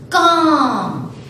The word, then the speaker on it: calm: Calm, L is silent.